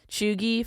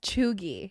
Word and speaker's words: cheugy: But like I saw drip, ghosted, goat, high key, basic, big yikes, cap, chuggy, fire, riz.